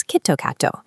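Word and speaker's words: キットカット: The brand name Kit Kat is pronounced locally as Kitto katto.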